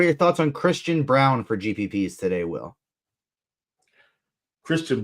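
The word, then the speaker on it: Braun: time um what are your thoughts on Christian Brown for gpps today will Christian Brown yeah it's pronounced brown but spelled Brown yeah it's actually pronounced Christian Brown yeah it's I know it's ridiculous but yeah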